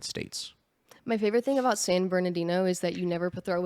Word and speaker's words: San Bernardino: San Bernardino San berino it's San berino yeah San Bernardino San Bernardino but from San berino San ber that's just I am from San California I'm like there's a couple more syllables in there but you get the